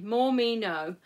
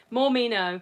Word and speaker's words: Mormino: me no um and as i'm aware she's called more meno because people kept saying her name wrong and that basically tells you how to say her name and i actually said her name wrong as well i was going morning mornimo or something like that but mormino there we go um she's got a